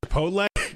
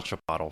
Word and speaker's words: Chipotle: being able to pronounce Chipotle oh yeah there's so many different ways some some some of them were like chipot Chipotle Chipotle Chipotle Chipotle that's the right way uh Chipotle wasn't I